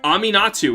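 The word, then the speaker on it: Aminatou: Aminatu is actually the way to say her name.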